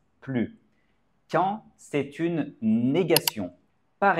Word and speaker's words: plus: I est une voyelle nous devons faire une liaison nous allons lier le S et le I et prononcer avec le Son Z comme si c'était un Z plus intelligent plus intelligent par